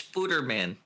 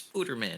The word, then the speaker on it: Spooterman: Wait it's Spooterman. It's Spooterman. It's not Sputterman.